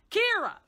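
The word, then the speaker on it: Qi'ra: Kira, spelled Q-I-apostrophe-R-A, pronounced Kira.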